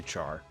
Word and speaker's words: char: not like oh yeah I definitely pronounce it as car I do not say Char I don't know why cuz it's character I mean I guess you could say care car you know is how